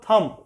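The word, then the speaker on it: thumb: कई वर्ड्स में साइलेंट होते हैं, जैसे आप एक वर्ड लिख लो थम, THUM बी, बी साइलेंट है, थम, बी बोला ही नहीं जाता।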